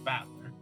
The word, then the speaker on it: Battler: of characters for fight in person and is pronounced battler put it all together and you've got Aria